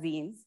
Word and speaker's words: zine: zins are essentially self-published not Mega zines and that's where the word zine also comes from and also the pronunciation Zine comes from as opposed to a sign um right so the